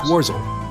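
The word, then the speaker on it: Worzel: Warzil. How do you pronounce the last name? I don't believe I've introduced myself yet. My name is Warzel.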